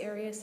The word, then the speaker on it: Arias: seven different ways um I say Aras as does the rest of my family okay well let's back